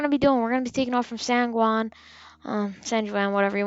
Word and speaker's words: San Juan: be taking off from san guan uh san juan whatever you want to call it i'm going to say sanguang because that's actually the proper way to pronounce it um but yeah and